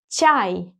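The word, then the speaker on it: чай: cha as ciao ah as up and yeah chai chai in Russian means tea and this word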